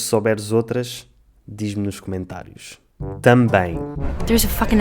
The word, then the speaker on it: também: A palavra também é complicada porque acaba num EM, o que significa que acaba no ditongo em. É muito pouco intuitivo ver um EM e perceber que faz o som nasal em e não M, mas o português é assim.